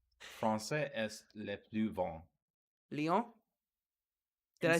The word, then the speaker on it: Lyon: Lyon?